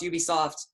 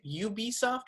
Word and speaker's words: Ubisoft: We, like Indiana Jones, we have no fucking idea when this is coming out, but I trust Ubisoft.